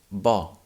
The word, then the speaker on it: bo: open sound we have the word bo bo is spelled b o and it means good the adjective we also have